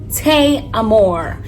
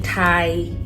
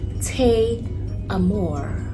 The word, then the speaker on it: Tay Amor: My name is Tay Amor. Yep, that's how you pronounce it. Please don't say Thai. No, don't say Amor. No, Tay Amor.